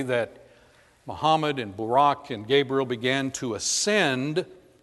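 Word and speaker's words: Buraq: this creature has a name listen to me pronounce it barack muhammad says that gabriel instructed him to get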